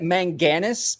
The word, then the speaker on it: manganese: I actually pronounced it manganese, and he was like, "You nailed it. That's exactly how you pronounce it."